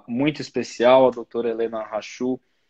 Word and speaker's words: Hachul: E hoje eu tenho uma convidada muito especial, a doutora Helena Rachu. É assim que pronuncia o seu sobrenome?